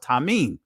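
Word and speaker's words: תמים: In Hebrew you'll see the word Tamayam or Tamyam. In the Israelite it's pronounced Tamim, which means perfect.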